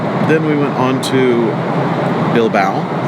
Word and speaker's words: Bilbao: Then we went on to Bilbao, rhymes with cow, which in my video the first time I pronounced Bilboa because that's how it's